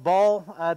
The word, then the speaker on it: Baal: Just know that he was a, sometimes pronounced Baal, B-A-A-L, and he was a fertility god for the Canaanites.